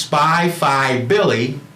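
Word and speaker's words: SPIFIBILLY: And that's pronounced Spy-Fi Billy, because when I started in this industry 20 years ago, I was a special finance manager, and that's what those initials represent, special finance.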